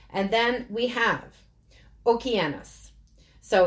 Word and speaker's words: Okeanos: And then we have Okeanos. So it's spelt in English, ocean us.